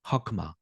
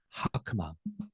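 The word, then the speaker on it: חכמה: 그래서 하크마 하크마 이렇게 호크마 또는 하크마의 중간 정도 발음 하크마 요렇게 발음하시고 지혜라고 번역돼 있어요.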